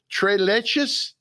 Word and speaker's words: tres leches: Tres leches?